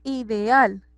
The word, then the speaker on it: ideal: Lo mismo ideal. Ideal tiene el acento en la última sílaba, por ende es una palabra aguda, así no lleve tilde.